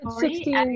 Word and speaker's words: Sixtine: Sixtine, if I'm pronouncing your name well, maybe you can go next. It's 16, but don't worry, like it's a complicated name, so I'm used to it.